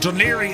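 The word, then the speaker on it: Dún Laoghaire: That's called Dunlier. Uh, it's always funny when you look at the name of how it's spelled, Dunla Hagrari. H, but Duniri is how you pronounce it.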